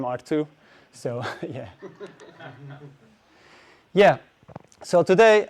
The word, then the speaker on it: Ertugrul: And uh if you ask this robot is it's kind of a clue how you can pronounce my name R2.